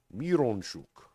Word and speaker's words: Mironchuck: Miron, as it's spelled, Miron, is pronounced mir, like one of the things they gave Jesus, myrrh, frankincense, gold, frankincense, and myrrh. Right, so mir, Mironchuck.